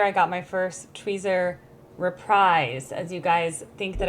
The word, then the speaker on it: reprise: As you guys think that I say repreeze wrong, but technically it is repris because it's a French word and that's how you pronounce it. But everyone calls it reprise.